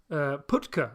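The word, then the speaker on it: Pytka: Putka, actually, I think is the correct pronunciation, who is otherwise known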